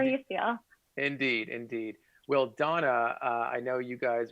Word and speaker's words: Dona: Okay, our first guest for the show is Amy Rothstein, who's the founder of Donna.